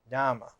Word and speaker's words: Dhamma: Dhamma is the southern pronunciation, the Pali pronunciation of Dharma. Dhamma.